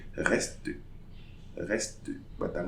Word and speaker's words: reste: So we say reste. So I'm pronouncing the last consonant but not the E.